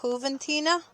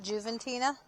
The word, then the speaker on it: Juventina: Wouldn't you pronounce that? Huventina, not Juventina. Juventina. You said Juventina. I think it'd be Huventina.